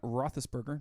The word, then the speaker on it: Roethlisberger: And then number 9 is Ben Roethlisberger. Did I pronounce that right?